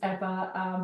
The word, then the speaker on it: Ewa: Um so, my name is Eva. The W is is V. It's in Polish. That's how you say it and my last name is.